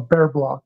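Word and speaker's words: Bier block: And the doctor per had performed what they call a bear block. It's spelled be ei block.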